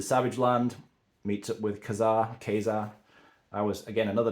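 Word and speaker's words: Ka-Zar: land meets up with Kazar kesar I was again another name that I hear people pronounce differently I've always said Kazar I think technically it is kesar but anyway it's by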